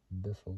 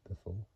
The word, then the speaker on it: Biffle: the last name correctly spells was like say word like saying word Biff so b i FF but adding adding the two letters L and e at the end born December 23rd uh